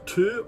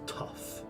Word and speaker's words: tough: Oh, it's either two or tow. No, it's tough.